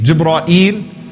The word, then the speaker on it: Jibreel: and the most elite of that class is Jibreel alayhi salam. Now, what's Jibreel's name? How can you say the name of Jibreel alayhi salam? What are some of the ways to pronounce his name? Jibreel, Jibra'il, Jibra'il, Jibra'il, Jibreel.